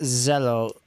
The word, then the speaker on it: cello: Okay, so it's pronounced zello, but it's still spelled with the C.